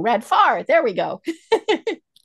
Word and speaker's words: Radfar: so please join me in welcoming Radnor to our program today welcome home and how are you and I said your last name wrong red far there we go it's all good it's all